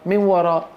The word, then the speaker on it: وراء: الوقف على الهمزة المرسومة ياء. في بعض الهمزات رسمت على ياء، هل تنطق الياء؟ لا تنطق، لا تنطق. ومن وراء حجاب، من وراء. انظروا كيف كتبت، هكذا كتبت. طيب كيف نلفظها؟ من وراء، من تلقاء نفسي.